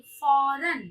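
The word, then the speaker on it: फ़ौरन: फौरन, फौरन बोलेंगे नहीं, फौरन। फ में नुक्ते का प्रयोग करके उच्चारण के साथ बोलेंगे, फौरन।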